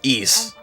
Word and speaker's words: Ys: found out uh well one is pronounced East and two um it's